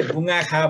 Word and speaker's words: बुङ्वाखा: गरेर फुलबारी भन्ने हुन्छ यो बुङ्वाखालाई बान्ताहरूले दुई तरिकाले उच्चारण गर्नुहुँदो रहेछ मेरो उच्चारणले यसलाई बुङ्वाखा भन्छु हाम्रो डाक्टर प्राध्यापक डाक्टर नोलकिशोर राई सान्दिवाको उच्चारणमा त्यो चाहिँ ठ्याक्कै बुङ्गाखा भनेर उहाँले उच्चारण गर्नुहुन्छ र बान्तामा यसको अर्थ